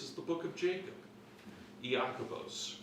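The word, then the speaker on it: Ἰάκωβος: the book of Jacob yakos for those of you who really want to know how it's pronounced in Greek um now what's interesting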